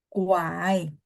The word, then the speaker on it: 拐: 1, 2, 3, 拐， kuai. ya, 拐， Nah, Kuai. nada 3, jadi dia karena sendiri, bacanya full ya, nada 3 ya.